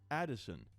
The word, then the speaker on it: Edison: The baby's name is Edison, pronounced Addison.